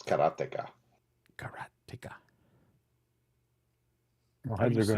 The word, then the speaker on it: Karateka: Karateka. Whoa. So it's like karateka. So it's like the word karate is what it is. And you just say ka on the end. Well, yeah, duh. So it's karateka.